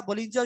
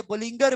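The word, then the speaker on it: Bollinger: बिल्कुल एंड लगा हुआ है जो है ना, उसमें सारा बोलिंजर श्रिंजर MACD सब कुछ मैं आपको खोल के बता दूंगा ये क्या ये वर्ड बोलिंजर भी नहीं है, ये बोलिंगर बैंड है ये वाला ना।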